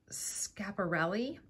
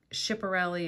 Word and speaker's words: Schiaparelli: And the brand is, and I want to say it right, Schiaparelli. So I never pronounced it like that. I always said Schiaparelli or Schiaparelli, but I just looked it up on YouTube.